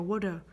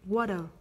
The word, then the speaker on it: water: Mình đọc là water. Bởi vì vần vần T này nằm giữa hai nguyên âm A và E. Thì mình sẽ đọc water.